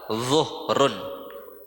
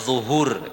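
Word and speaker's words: ظهر: Kemudian setelah subuh atau fajar yang namanya salat zuhrun. Bukan zuhur ya. Zuhur itu kalau sudah jadi orang Indonesia ya. Zuhur itu kalau sudah jadi orang Indo Indonesia. Kalau di Arab namanya zuhrun. Zuhr bacanya zuhur. Zuhr ya bukan zuhur tapi zuhur ya.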